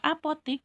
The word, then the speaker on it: apotek: Kita mengenal bahwa apotik itu tulisannya APOTIK. Tapi setelah kita melihat, ternyata kata bakunya adalah pakai E, APOTEK. Tapi bacanya tetap APOTIK.